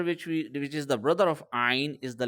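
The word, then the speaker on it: ع: And the letter Ayn is actually coming from the center of the throat, okay?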